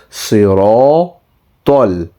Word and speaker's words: صراط: So ta, whenever it has a fatha or a zabar, should also be pronounced with a slightly round shaped mouth. Okay, so it will be not siratal, not siratal, it will be siratal.